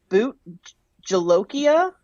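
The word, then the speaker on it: bhut jolokia: it up it's called also called um it's boot jolokia b i don't know how to say it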